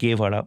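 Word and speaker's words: Guevara: দ্বিতীয়ত চেয়ে গুয়েভড়া বা এখন উচ্চারণটা সে গুয়েভড়া অনেকে বলে বা গেভারা অনেকে বলে।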